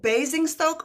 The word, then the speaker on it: Basingstoke: Is it, how do we say it? Bazing Stoke or Bazing Stoke. You said it right the first time.